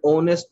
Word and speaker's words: honest: many words are there h letters silent that is not pronounced so we need to